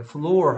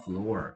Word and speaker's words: floor: 자, o는 보통 o는 일반적으로 우 소리 내는 게 일반적인데요. 이렇게 floor 할 때는 이렇게 o 소리 발음이 납니다. floor 이렇게 얘기합니다.